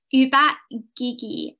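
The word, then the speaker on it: ubat gigi: but i just realized i did pronounce one of the words wrong so i'm very sorry uba gigi i think is the correct pronunciation this actually means toothpaste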